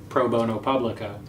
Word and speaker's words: pro bono publico: pro bono now but actually the term is pro bono publico okay and it has the same number of syllables as studio so it may sound